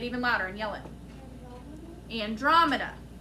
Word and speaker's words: Andromeda: newest neighborhood is the use the pronunciation key what's the first syllable second syllable drum next syllable last syllable so andromeda if we put it all together no spaces it sounds like andromeda who can help him